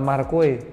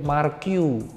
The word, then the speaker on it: Marque: jenenge aw itu ternyata dia bilang dog bacanya bukan marque Mark you Makanya kalau Kowad pintu